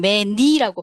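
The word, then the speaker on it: menu: 그 다음에 지소형, 지대형, 유의어, 반의어 요 정도의 정보라든지 아니면 외래어 발음 정보 예를 들면은 메뉴판 할 때 메뉴를 폴란드에서는 메니라고 발음을 하거든요.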